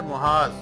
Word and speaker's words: محاذ: بختر بند ہو گیا۔ محاذ، میم کے اوپر پیش ہے محاذ۔ سوال نمبر 5 ہے،